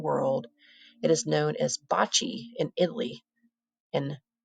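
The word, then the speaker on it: bocce: games in the world bot pronounced Bachi began with the Egyptians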